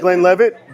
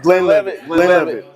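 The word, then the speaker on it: Glenlivet: Is that Glen Levit? Glen Lev. Lean into that L.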